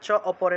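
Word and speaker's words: চাপরে: চ অপরে, চা পরে আছে না, এটা চ অপরে উচ্চারণ হবে, আকারটা অ এর মতো উচ্চারিত হবে।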